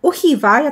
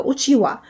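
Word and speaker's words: うちわ: z dwóch motków włóczki Uhiwa. Ja to mówię na to Uhiwa, choć zaglądając do słownika języka japońskiego, to już wiem, że Uhiwa to jest wentylator i czyta się to jako uciła.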